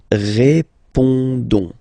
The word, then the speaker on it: répondons: Don't pronounce the final S. You only pronounce this on sound. So you get répondons.